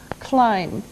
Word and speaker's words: climb: first verb is climb climb now it doesn't sound like it looks now if this letter B is silent climb okay we climb a